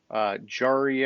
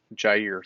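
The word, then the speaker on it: Jaire: And so James at cornerback, they've got Jalen Ramsey, Jari Alexander, however you say his name. I know I always mess it Jair. up. Jair, thank you.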